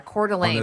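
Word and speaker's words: Coeur d'Alene: Yeah, Cordelane. It's got like a little bit of a an all france to it, but yeah, a beautiful area, very popular.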